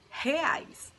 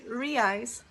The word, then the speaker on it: real: suaren sampaio from brazil and this word is pronounced hais but if you say re-eyes people will understand thanks so ellen now the